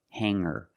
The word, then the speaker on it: hanger: When I change these words with eer, I don't pronounce the g sound. It's just the nasal m linked together with the together. Hang hanger. There's no g sound.